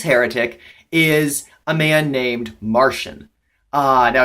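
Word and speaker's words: Marcion: a heretic this heretic is a man named Martian now it's pronounced Martian it's actually spelled ma our CIO N and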